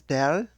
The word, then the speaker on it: del: there is the ficks first law this symbol pronounced as del is the gradient operator which is the first